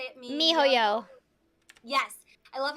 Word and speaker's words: miHoYo: Mihoyo.